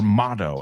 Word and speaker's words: motto: Ahora, if you're British, the T sounds more like a T, not a D.